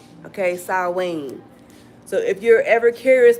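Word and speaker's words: Samhain: Austera or um happy saw Wayne. Okay. I picked that one on purpose because a lot of people be like snee. The purple the proper pronunciation is saw Wayne like Wayne. Okay, saw Wayne.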